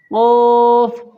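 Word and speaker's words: كاف: কাফ কাফ কাফ হচ্ছে বেরার কাফই বলতে পারেন ওরকমই নরমাল কাফ কাফ আর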